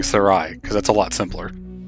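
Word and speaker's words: Serai: actually sure about that the symbol on the i in her name actually denotes that the two letters are not meant to be pronounced together so her name would actually be more like Sarai e but that's a lot more complic ated to say so I'm just going to keep saying Sarai cuz that's a lot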